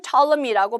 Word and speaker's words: Ptolemy: 자, 영어로는 Ptolemy라고 발음을 하지만 한국 이제 번역된 역사책에 보시면 프톨레마이오스라고 아마 나올 거예요.